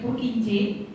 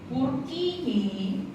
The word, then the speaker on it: Purkinje: Di situ di buku kalian kan diminta untuk mencari Purkinje, bacanya.